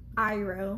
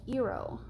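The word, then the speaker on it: Iroh: never heard of and they call him like ero which is spelled differently like oo is a name but it's not spelled like that yeah no his name is iro in the show hero is spelled like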